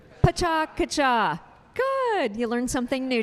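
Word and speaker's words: Pecha Kucha: really hard to pronounce so it's not picha cucha which is what I've been saying for many years it's Paca kacha so on the count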